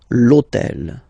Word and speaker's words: hôtel: purpose this hôtel, okay, because it starts with H, but remember that in French we don't pronounce H, okay, so basically the first sound of the word is the vowel O, okay, so for the same reason, needs to disappear.